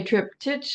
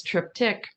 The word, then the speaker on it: triptych: You can say triptych if you want. I think the more common pronunciation is triptych.